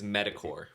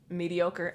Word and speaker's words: mediocre: mispronounce, and even sometimes I'll find myself doing again, is metacore. Do you know what word I'm trying to say? Medical, Nope. mediocre.